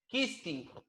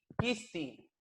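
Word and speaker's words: khisti: Kisti. K-H-I-S-T-I. Kisti. Sopladito, ¿ya? Kisti. No simple. No es kisti. Es kisti. Un soplido entre medio del labio.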